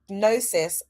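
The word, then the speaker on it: gnosis: All right, I want to just explore nosis versus dogma. So the ultimate truth arguably is nosis. That's G N O S I S, but the G is a silent G by the divine power vested in me.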